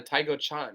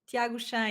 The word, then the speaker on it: Thiago Chan: the World Championship yeah that's Tao Chan right Thiago Chan exactly oh Thiago Chan I was pronouncing that wrong that's on me no